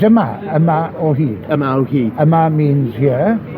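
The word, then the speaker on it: Yma o Hyd: Let's get the pronunciation right. It's Ama Ohid.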